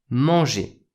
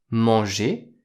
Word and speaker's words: mangé: La prononciation est et. Manger. Manger, c'est le participe passé. J'ai mangé. J'ai mangé, c'est le passé composé.